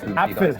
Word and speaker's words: Apfel: So there's a P and then an F, right? Apfel.